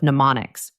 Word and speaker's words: mnemonics: This technique is called pneummonics. m n e m o n i cs. The m is silent.